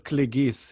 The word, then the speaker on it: Kligys: I'm joined today by Kligys. Did I get that right? Well, to be more precise, it's Kligys. It's a normal pronunciation.